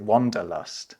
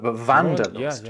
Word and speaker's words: Wanderlust: in English, and that's people in English might pronounce it wanderlust, but wanderlust, right?